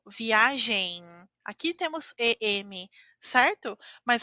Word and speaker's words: viagem: Quando a letra M está ao final da palavra, nós falamos como se fosse a letra N. Então eu digo viagem.